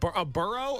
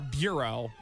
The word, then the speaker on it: burro: A burro or a bureau? Well, it's spelled like a churro, so I think that's a donkey.